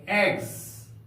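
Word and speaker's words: eggs: लोग डबल जी यानी E double G एस जोड़ते हैं इस एस का उच्चारण ज के समान होगा हम लोग पढ़ेंगे एग्स एग्स का अर्थ होता है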